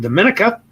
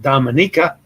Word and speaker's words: Dominica: Pittsburgh Jason is for the first time is in Dominica, or depending on how you pronounce it, Dominica.